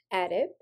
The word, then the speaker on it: adip: the prefix adip, pronounced adip, refers to fat or fatty tissue.